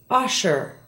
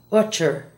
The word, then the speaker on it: usher: Listen to the following SH words and how they're mispronounced in Spanish. Shadow is often said as chado. Cash, not cach. Usher, not utcher.